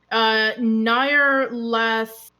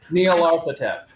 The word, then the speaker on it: Nyarlathotep: would be, and I'm sorry, I'm going to mispronounce this. I'm sorry. Nair Latothep Nyarlathotep. Nyarlathotep.